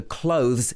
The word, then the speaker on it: clothes: So clothes is k-l-o-z-z.